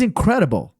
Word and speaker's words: incredible: Nota que o i fica a, né? Incredible. Incredible. Incredible. E claro, não tem ênfase nessa sílaba, né? Esse R é mais fraquinho.